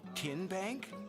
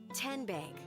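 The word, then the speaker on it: TN Bank: How do you say the name Ken Bank? Nope. Tin Bank. Uh-uh. So, what is it? Tenbank. 10 as in Tennessee.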